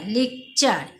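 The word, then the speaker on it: lecture: ও আর ই যেখানে দেখবে তোমরা সেখানে চ উচ্চারণ করবে তাহলে অর বলি পাঞ্চার এল ই সি লেক টি ও আর ই চার লেক চার সি ইউ ও এল কাল টি ওয়ার ই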